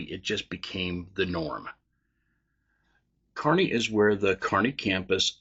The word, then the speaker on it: Kearney: So the first one is Kearney, Kearney, Nebraska. Its population is around 33,000 people. I've heard people pronounce it as Kearney because it is spelled Kearney.